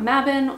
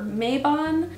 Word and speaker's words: Mabon: Today we're going to talk about Mah-bon or May-bon (pronunciation variants of Mabon ) and how to celebrate it!